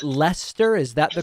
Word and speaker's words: Leicester: go next to john from is it pronounced lester is that the correct pronunciation yeah no it's a lester we spoke before actually i remember in question